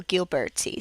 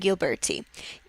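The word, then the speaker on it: Ghiberti: the one on your right is by Lorenzo gilberti so we're going to be talking about Brunelleschi and gilberti um yes his name is pronounced Brunelleschi this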